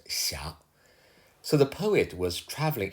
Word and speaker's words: 斜: This character, Xia, would normally be pronounced xie, but here, for rhyming purpose, should be pronounced xia.